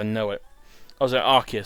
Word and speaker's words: Arceus: it I was there Arceus sorry I've got pronounce it the official way Aki's makes more sense anyway but ok whom